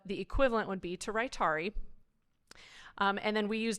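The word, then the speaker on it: Rytary: I did include it because um this is Rari is how it's pronounced it's the first true extended release version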